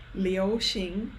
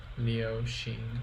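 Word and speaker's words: 流行: Liu Xing is how you pronounce it.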